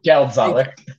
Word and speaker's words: Geldzahler: So I am joined today by Geldzahler. I did say that right, right? Yeah, but Oh, 90%. okay. Geldzahler. Okay. Woo! That's a win for me. I'm terrible with pronunciation.